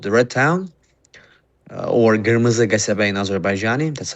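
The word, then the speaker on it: Qırmızı Qəsəbə: It's called the Red Town, or Kırmızı Gasabe in Azerbaijani. That's how we pronounce it.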